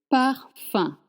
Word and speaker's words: parfum: Le parfum. Un. The letter UM at the end, you don't pronounce a M sound. Le parfum. Le parfum.